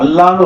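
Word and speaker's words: الله: இருக்கு இதை எப்படி உச்சரிக்கணும் இந்த அல்லாஹ் என்ற வார்த்தைக்கு ரெண்டே ரெண்டு சட்டம் தான் இருக்கு அதாவது அல்லாஹ் என்ற வார்த்தைக்கு முன்னாடி ஜபர் பேச்சு வந்துச்சுன்னா அந்த அல்லாஹ் என்ற வார்த்தையை கனமாக லாது மாதிரி உச்சரிக்கணும் கனமா சொல்லணும் உதாரணமாக அல்லாஹு அல்லாஹு வாய் நிரம்ப சொல்லணும் அல்லாஹும் ஸல்லி அலா எப்படி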